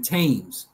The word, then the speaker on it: Thames: In some cases, th is pronounced just as t, as in Thames, Thomas, time in Thailand.